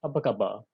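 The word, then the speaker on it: apa khabar: malaysia which is malay it is pronounced as abakaba apart from being one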